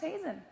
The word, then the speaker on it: Heesen: My name's pronounced Heesen.